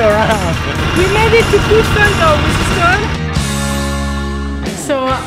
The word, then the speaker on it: Pushkar: So today we're gonna chill at the pool for a little bit and then explore Pushkar.